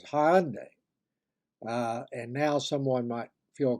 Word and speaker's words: Hyundai: The next two syllables of my word for today are relatively easier, and the un sound is said as an independent word, unconnected with what comes before or after. And then day, D-A-I, is where the I becomes a Y, just the reverse of the previous one. So the correct way to pronounce the word is Hyundai.